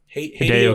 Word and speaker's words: Hideo: Is that how you pronounce his name? Hideo Kojima.